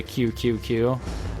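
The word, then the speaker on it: 九: I said, welcome to QQQ? That's because the number 9 in Japanese is pronounced Q. Like the letter Q.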